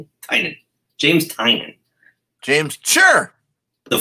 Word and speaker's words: Tynion: Tynion.